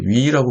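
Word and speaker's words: Yu: 셰릴 유라고 하는 실제로 이제 위라고 발음이 되게 됩니다.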